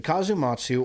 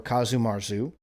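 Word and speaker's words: casu marzu: The Kazumatsu or Kazumarzu, see, like I told you, they pronounce it two different ways.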